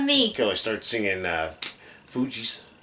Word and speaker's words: Fugees: Till I start singing Fugees, or Fugees, I think is how it's pronounced.